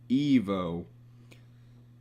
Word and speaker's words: Ivo: Because the word itself, when pronounced with a soft I, so Evo, it sounds pretty similar to the word evil.